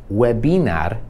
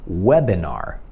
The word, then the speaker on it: webinar: tutaj chcę żebyś zauważył że nie tylko się inaczej wymawia to i albo po angielsku i ale też jest inny Akcent zamiast Webinar to się mówi łebynor web że ten Akcent jest na łeb web in or webr